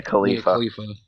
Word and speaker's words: Khalifa: Mia, how do you pronounce her last name? Mia Khalifa.